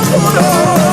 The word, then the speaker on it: puro: And Ben, just in Spanish, you don't got to roll your R when it's only one. It's puro.